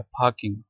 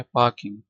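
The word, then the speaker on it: parking: तो ये British action में ये भी आर साइलेंट है। पार्किंग। ठीक है? पार्किंग। तो जबकि अमेरिकन एक्शन में आर को बोला जाता है।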